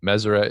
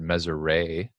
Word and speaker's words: Meseret: So Meseret is the correct way to pronounce it. I've heard Meseret, where a lot of people think the T at the end is silent.